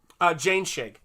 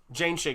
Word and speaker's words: Jainschigg: Jane Shig. Jane Shig is how you say his last name.